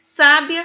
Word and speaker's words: sábia: gráfico ao caso de sábia sabia e sabe a olha só na escrita é a mesma o que vai marcar a diferença é a sílaba tônica e também o acento gráfico sábia sabiá paroxítona terminada